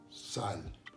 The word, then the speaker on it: sal: Sal.